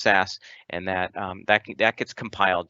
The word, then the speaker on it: SCSS: theme development we're using SAS scss it's generally pronounced SAS and that that gets